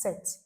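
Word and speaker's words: sept: But it is pronounced set. The P is silent.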